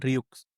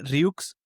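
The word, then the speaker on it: Rieux: Por cierto, creo que se escribe Ryux, pero estuve viendo Rux. como videos y lo pronuncian como Ryu. O sea, Ryu. no pronuncian, sí, no pronuncian la X.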